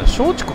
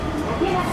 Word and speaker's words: 竹松: けど違う最初あれどうやって読むか思ってから松竹か思えたでしょう松竹のもおかしいしよう見たら松竹じゃないですね竹が強いと読むのもおかしいよ普通快速シーサイドライン